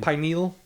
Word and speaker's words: pineal: decalcification yes pineal right how is it pronounced pineal Pine pineal pineal pineal because Pine shap like a pine you got it sh